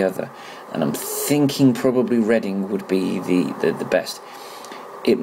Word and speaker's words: Reading: and I'm thinking probably Reading would be the best. It might be a bit confusing for people that aren't from the UK, because Reading is spelt the same way as reading.